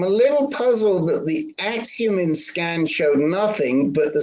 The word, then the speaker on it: Axumin: But as you know, Oxuma is FDA. Let me just You're talking Yeah. about Axumin, I think. Yeah, Axumin.